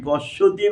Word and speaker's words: পশ্যতি: আশ্চর্যবাদ পাশ্যোদি, প তালবস্বয় বলা তৈরসি পশ্যতি বাংলা উচ্চারণ করা হয়, সংস্কৃত পশিয়তি রস্যি তালবস্বয় রস্যি অকার উচ্চারণ করে পশিয়তি, এবং চান্ন চ